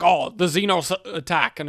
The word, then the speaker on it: Xenos: I guess that's just how they pronounce it in Britain is Zenos. Um but uh no, it's uh Xenos.